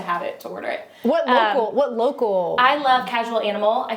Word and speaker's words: lo.kc.al: You can follow me at local, lo.kc.al. Pronounced local.